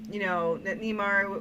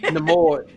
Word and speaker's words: Namor: I was like, "Well, that's one watch," but I did like it, and I liked that Neymar or they kept saying his name wrong, different or whatever. Namor.